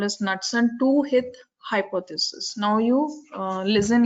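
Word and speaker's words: Knudson: So that hypothesis is called as Knudsen hypothesis. The K is silent. I don't know when the K is silent, why they add it. It's called as Knudsen two-hit hypothesis.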